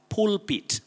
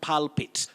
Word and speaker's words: pulpit: also have alta a-l-t-a-r then we have pulpit not palpate than the word sacred